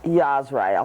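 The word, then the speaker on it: Yasraal: when Yahweh goes back it'll be called yasuaya yazrel how do you spell that y-a-s-r-a-a-l a Al rather than e l yes right all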